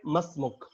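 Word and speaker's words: ما اسمك: And if you want to ask other person his name, what is your name, so you need to say masmuk. Simple, masmuk. मसमुक। Okay. Can you pronounce it?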